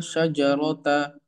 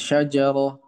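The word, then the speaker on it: شجرة: Jadi bacanya harusnya syajar enggak ya? ini tetap bahasanya syajarah. Ini hukum yang memang sudah dari sananya. Kalau taknis seperti ini ya, seperti tamaro ini, maka dihilangkan seperti huruf H.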